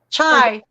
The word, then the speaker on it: chai: the uh chai ice i always say that wrong it's chi right chai it's chai i said it right the first time chai ice tea anna